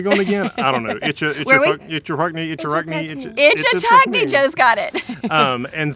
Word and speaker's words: Ichetucknee: Ichetucknee.